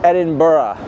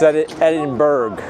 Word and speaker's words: Edinburgh: It's not Edinburgh. That's the American way to say it. It's Edinburgh. You gotta say it like you're Scottish.